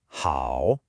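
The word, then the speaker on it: 好: Remember that dipping and then rising pitch. Ready? The correct pronunciation is how. Listen again. How? You have to feel your voice drop before it comes back up.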